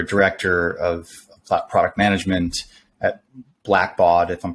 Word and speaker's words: Blackbaud: You were director of product management at Blackbaud, if I'm pronouncing that correctly.